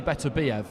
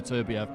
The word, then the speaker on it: Beterbiev: But I was told in no uncertain terms a couple of years ago that with Eastern European surnames, the stress goes on the penultimate syllable, so the last but one, so it would be Dalakayan, and it should be Beterbiev, as some people do say, rather than Beterbiev.